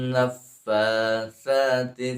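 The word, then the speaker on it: النفاثات: maka itu adalah dibacanya sifat dari sa, itu dibacanya harus dihameskan. Fa-nya juga dihameskan, sa, fa, sa. Wa min syarrin naffatsati fil 'uqad ya, naffatsa dua.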